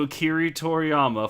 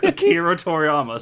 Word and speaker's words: Akira Toriyama: Was it A, a thank you to Akira Toriyama for inspiring us all to use our imagination? I know I just said that name wrong. Shut up. Akira Toriyama.